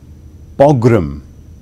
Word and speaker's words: pogrom: There's two pronunciations, I'll give you both. Pogrom, also pronounced pogrom.